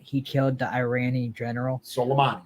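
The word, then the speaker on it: Soleimani: killed the Irani General solomani right solami oh I'm sorry I can't say his name how do you say it solomani okay yes that's I like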